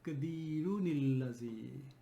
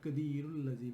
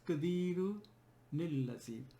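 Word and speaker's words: قَدِيرٌ الَّذِي: So the way to merge will be ala kulli shayin qadirunil lazi. Not qadirul lazi will be wrong. It's qadirunil lazi.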